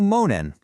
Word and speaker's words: Mōnen: The source material we're looking at today calls it moaning. So monen, that's spelled M O N E N, is a Japanese term for this runaway story.